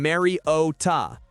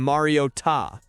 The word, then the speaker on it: Mariota: Throughout his 11-year career, he has always been Mary O Ta. There was some confusion about whether it was Mario or Mario, but the final syllable was never emphasized until Sunday Night Football when he suddenly became Mario Ta. Somewhere, Hermione Granger is seething with rage. Apparently, that's how it's supposed to be.